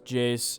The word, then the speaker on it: Iayze: a jace type beat i'm pretty sure that's how his name is pronounced i used to think his name was like a's or something like that but yeah pretty sure it's jace if you guys are